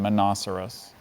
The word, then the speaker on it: monoceros: on the right track are there any alternate pronunciations I see just the one minoceros minoceros m o n